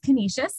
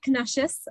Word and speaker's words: Canisius: the name canisius college so it is canisius not canucius um we are just